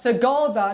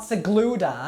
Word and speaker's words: Sigulda: One is that I had been pronouncing the town's name wrong the whole time of making the video, and it's pronounced Sigulda, not Sigluda, and that it had several sister cities.